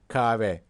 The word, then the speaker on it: kahve: So here there's H letter, but we don't normally pronounce this so strongly, so we say kahve.